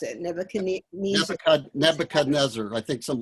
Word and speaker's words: Nebuchadnezzar: After how do you pronounce it? Nebuchadnezzar.